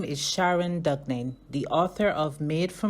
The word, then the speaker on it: Douglin: Am I pronouncing it correctly? Yes. Sharon Douglin, author of the book Made for More.